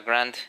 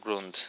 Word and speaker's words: grunt: archivos y demás bien Esto se pronuncia Grant y no grunt sino gr es el